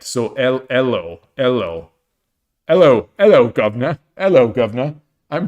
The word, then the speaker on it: Elo: Oh, so, so you think that Elo is pronounced like the E in get. So Elo. Hello, governor. Hello, governor. I'm British. It's pronounced Elo, in it.